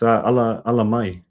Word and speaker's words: Ala Mai: And then the album name Ala Mai, is that how you pronounce it? Yeah, you're pretty close. Ala Mai.